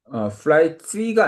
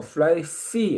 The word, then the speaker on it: fleißig: fly가 아니고 flyc s 발음입니다.